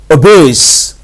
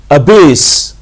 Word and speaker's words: abase: आते हैं, ABASE, और इसे हम प्रोनाउंस करते हैं अबेस, अबेस। ठीक है, इसके प्रोनाउंसिएशन इस तरह से है कि शुरू में हम साउंड करते हैं और आ गया बेस, अबेस।